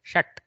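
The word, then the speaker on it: षट्: So don't go Mahaprana Shat like that. Shat, that's all.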